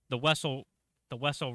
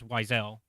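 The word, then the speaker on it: Wesell: is this one, the Wessel run, which is how I learned that the correct way to pronounce Zam Wessel's last name. Even though Bounty Hunter, the video game, not canon, says Wiesel.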